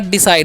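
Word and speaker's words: decide: क्या पढ़ते हैं, डिसाइड, डिसाइड, सी का उच्चारण स करना है, क्योंकि सी के बाद आई है, तो डिसाइड, और डी का उच्चारण ड, तो हो गया डिसाइड, लास्ट वाला ई का उच्चारण नहीं होगा।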